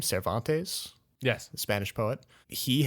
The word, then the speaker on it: Cervantes: famous novel Don Quixote by, how do you pronounce his name? Cervantes?